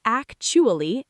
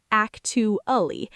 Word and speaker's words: actually: Pronunciation say actually not actu meaning in fact used to correct or contrast ideas.